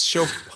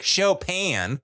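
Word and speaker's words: Chopin: I was like, and she said she pronounces because it's show isn't it shop? She's like Chopan.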